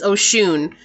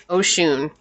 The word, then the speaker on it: Oshun: Ocean, how do you say her name? She was right next. It's Oshun. Oshun.